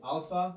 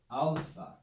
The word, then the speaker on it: alpha: greek letter alpha alpha this letter is pronounced just like the latin ah the normal classical ah so any time in greek that we see the letter alpha we're going to read it with the sound ah phonics in classical languages